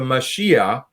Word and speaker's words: Mashiach: And the second book it's called the Mashiach, which is just the Hebrew spelling and pronunciation for the word Messiah.